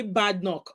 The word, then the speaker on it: Badenoch: you were going to come with something K bad knock that's how to pronounce that name right we got it at